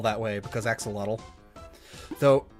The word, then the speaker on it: axolotl: L that way, because axolotl. Though, if I'm not mistaken, I believe if you're pronouncing it properly, it's supposed to be like axolotl. Like, you don't pronounce the L at the end.